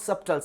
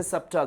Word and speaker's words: subtle: Right, S-U-B-T-L-E, it's not subtle. Many people they say subtle, this is wrong. It should be pronounced as subtle.